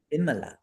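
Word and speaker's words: vimala: Vimla. Yes. And it's not V because it's a short I.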